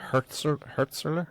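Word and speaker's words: Hürzeler: Like, I'm just looking at your Hertzler. Is that how you pronounce this?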